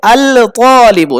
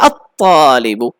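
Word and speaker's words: الطَّالِبُ: এরপর দেখুন তালিবুন, ত, এই ত এর শুরুতে যদি আমি আল লাগাই, ত এর আগে, তাহলে কি লামটা উচ্চারণ হবে? আল তালিবু, না কঠিন, এই জন্য কি করবে? আত-তালিবু, আত-তালিবু।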